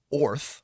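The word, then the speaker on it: Oerth: according to the DMG Oorth is actually pronounced or or O, which just makes me think of, you know, makes me think.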